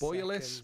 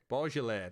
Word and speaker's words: Beaujolais: Is it Bouillolis or something? Terrible. I'll get up in this. Bouillolis. It's a French wine, I'd imagine, just by the pronunciation of the name. Is it Beaujolais? Beaujolais. That reads better. That just shows you how bad my French is.